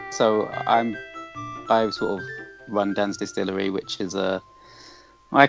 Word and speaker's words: Dan's Distillery: Did I pronounce that right? Dan's Distillery.